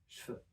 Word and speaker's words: cheveux: So what we're going to do is we're also going to devoice the V sound in the middle and make it a F. So we can pronounce cheveux as cheveux.